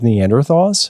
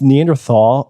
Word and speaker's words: Neanderthal: fault okay um fall t-h-a-l means valley in german but in late 1800s